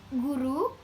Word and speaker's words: guru: Bacanya itu guru, itu, dan umur.